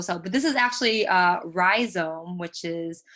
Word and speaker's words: rhizome: And then there's also, there's a website called Rhizome that is a archive of digital, basically of digital art or net-based artworks.